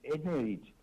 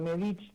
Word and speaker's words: Nedich: Es Nedich, porque lleva un acento en la E. Pero Nedich también, porque es un apellido croata, y bueno, acá lo argentinizamos, ¿no?